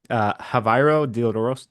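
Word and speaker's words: Javairô: Well, he's Dutch, so I don't know if the J is an H That's sound.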